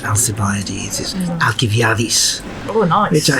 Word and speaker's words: Alcibiades: ideas or alkyd by ADIZ I say of Alcibiades soft see I'm gave this off see the anglicized pronunciation simply because that's how I've always heard